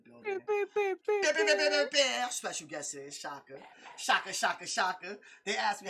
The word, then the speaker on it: Shouka: Shouka. They asked me, how do you pronounce his name? I said, do you know who Shaka Zulu is?